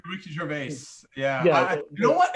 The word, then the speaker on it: Gervais: And to see Ricky, I don't know how to say his name, Gervais or Jervis or whatever. Ricky Gervais.